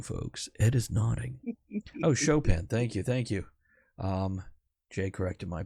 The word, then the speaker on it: Chopin: Oh, Chopin, thank you. Jay corrected my pronunciation. Thank you. Chopping broccoli. That's what I always think of when I see Chopin spelled out.